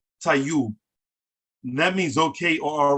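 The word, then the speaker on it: tayub: all right or okay spell t-a-y-u-b right that's tai you taiyu that means okay or all right but if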